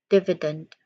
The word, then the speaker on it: dividend: You pronounce it as these distinct sounds. Div, first div, div, short E sound in the middle, div, another short E sound after div, E, E, and then dent, dividend, dividend, dividend, dividend.